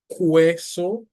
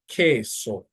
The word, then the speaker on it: queso: So for example, you don't pronounce the U, just the K. So it's not queso, no, it's queso. And this word means cheese. So not queso, but queso, queso.